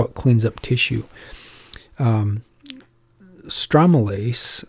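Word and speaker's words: stromelysin: it cleans up tissue stromalase or pronounced strom like palm strome illicin i call it stromalace that's how i learned it uh and or stromalyzen oh yeah i forgot the sin uh stromolysin new slides stromolysin is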